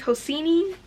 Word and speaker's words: Hosseini: I never knew how to pronounce his name. I think it's Hosseini. I hope I'm pronouncing it right.